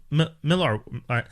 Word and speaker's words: Millar: I feel weird pronouncing it this way, but I'm told his name is Millar and it's Millar World. But I feel like Miller World is so much easier on the tongue.